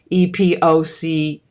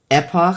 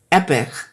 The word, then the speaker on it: epoch: this word is pronounced e-p-o-c-h Epoch some people say it's supposed to be said epic now I don't think so it's Epoch or Epoch